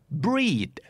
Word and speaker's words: breed: d brandแปลว่ายี่ห้อ b l a n d bland แปลว่าจืดแปลว่าไร้รสชาติครับคู่ต่อมาครับถ้าเกิดออกเสียงเป็นตัว R มันจะหมายถึงการผสมพันธุ์ขยายพันธุ์แพร่พันธุ์แต่ถ้าเป็นตัว L จะหมายถึงเลือดออกนึกออกไหมครับ breed bleed b r e e d breed BLEED